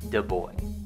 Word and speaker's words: de Broglie: number one he was destined to have his name mispronounced for probably his whole life but definitely after his life louis de boy and two he was